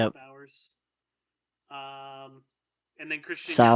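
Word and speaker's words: Bauers: Is that how you say Is that the right pronunciation, Bowers? Yeah, Jake Bowers. Yep. Bowers.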